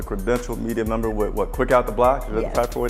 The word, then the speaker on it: Quick Out the Block: This is Sheena Quick, who, if you don't know her, she's a credentialed media member with what, Quick Out the Block?